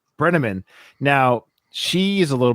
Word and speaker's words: Brenneman: Brenneman.